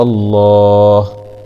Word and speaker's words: الله: خاشعا متصدعا من خشية الله، وتلك الأمثال نضربها للناس لعلهم يتفكرون، هاء ضمه واو فتح واء هو اسم الجلالة، لا يتهجى تأدبا مع تغليظ اللام لأنها جاءت بعد حرف مفتوح، هو الله هو الله، همزة وصل